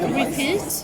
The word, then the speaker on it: RPT: How- So this one is called Repeat. Repeat. Yeah, but it's spelled RPT.